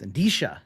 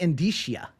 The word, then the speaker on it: indicia: on the planet didn't know pronounce indish it's act it's actually indicia indicia indicia is the actual pronouncing but George is here